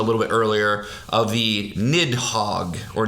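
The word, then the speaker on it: Nidhogg: bit earlier of the nidhog or nid Hogue I believe is the the pronunciation Norse pronunciation which is this snarling big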